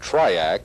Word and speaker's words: TRIAC: attention to the Dayak the letters in the word Dayak may have originally stood for diodes and AC current but if so that distinction has been lost with usage today Dayak and triac are pronounced as words and the letters don't really stand for anything the Dayak is a